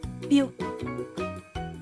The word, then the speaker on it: più: If you see an accent on this vowel, just like the letters A, I, and O, pronounce the word stressing the U. Più, più.